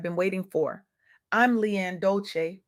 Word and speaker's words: Dolce: I'm Leanne Dolce, pronounced dol-ce like sweet softness whispered in French.